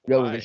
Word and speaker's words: Jovovich: Is that how you pronounce her last name? Milla Jovovich? Jovovich, yes.